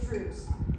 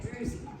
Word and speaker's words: druzy: like a droozy okay correct way to say it is drew's but we now say it druzy so um but it